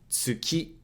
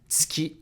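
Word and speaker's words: つき: Tsuki, same here. The U sound in tsu can be devocalized, and you can say tsuki instead of tsuki, tsuki, tsuki, and it means the moon.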